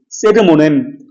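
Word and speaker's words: sermonem: 말씀 선포, 베르붐, VERBUM, 베르붐, 세르모넴, 말씀이신 예수 그리스도, SER, 발음대로 그냥 하면 돼요.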